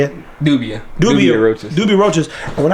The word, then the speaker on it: Dubia: I mean, there are things that I would have thought, we got these giant Dubai roaches, right? Is that how you say it? Dubia roaches.